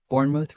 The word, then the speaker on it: Bournemouth: Bournemouth. Repeat twice. Bournemouth. Bournemouth. Notice the short O and light ending.